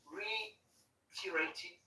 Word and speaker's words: reiterated: The Republican leader himself, 79 years old, reiterated. Cool. So this is a word I wanted you to. It's comme en français. C'est le REI, c'est deux syllabes. C'est réitéré. Thank you. Reiterated.